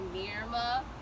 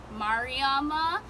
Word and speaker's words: Mariama: My name is actually, I've been going by Mariama, but the correct pronunciation is Mariama, and I'm deciding to like embrace my culture and go by my actual name.